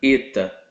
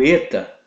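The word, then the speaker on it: ήτα: E o eta, ele é aquela vogal fechada, E, ok? Eta.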